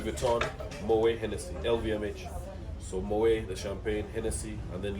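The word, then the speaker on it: Moët: It's Moet, not Moet or Mawet. Yeah, Moet. Moet. Yes. So the T is silent.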